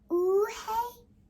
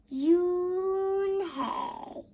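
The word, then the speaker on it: Unhei: girl asked hyun hai say to you hey ooh hey the girl is scrunching up her face ooh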